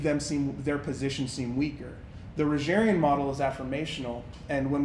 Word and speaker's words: Rogerian: have Rogers, Carl Rogers, Rogerian. So Roger Ian, Spell that. R-O-G-E-R, Okay. like Mr. Rogers, like that.